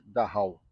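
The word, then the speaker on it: Dachau: Campo de concentração de Daha ou Daau. escreve-se Daha, pronuncia-se daal, foi um dos primeiros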